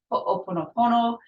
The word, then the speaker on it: ho'oponopono: He pronounces it ho'oponopono.